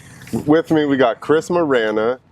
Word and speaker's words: Morena: Where I go, it's Morena. The correct pronunciation is Wisner.